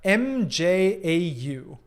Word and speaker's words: mjau: no i do uh m-j-a-u evidently it's been too long since i was in norway uh mjau meow meow uh pronounced the same but spelled very differently uh do you exclusively